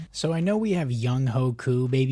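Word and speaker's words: Younghoe Koo: So I know we have Young Ho Koo, baby, Young Wei Koo, I know that's how you pronounce it, but oh my gosh, I've never seen a kicker so good before.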